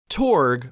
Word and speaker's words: TORG: in Columbus Ohio called The torg Gaming Expo torg or t-o-r-g as it's spelled stands for the Ohio retro gamer and